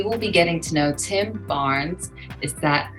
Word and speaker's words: Tim Barnes: today's show we will be getting to know Tim Barnes is that how you say your name that